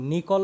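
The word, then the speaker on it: Nicol: ঠিক আছে তাহলে একটা নিকল প্রিজম আমরা ব্যবহার করবো নিকল কিন্তু সাইন্টিস্ট নেম নট নিকেল আমার বানানটা হয়তো ভুল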